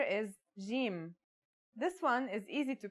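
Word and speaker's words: جيم: is easy to pronounce it's somewhere between a g and a j depending on the accent for example Standard Arabic Syrian or Egyptian in Standard Arabic and Syrian Arabic it should sound like the J in the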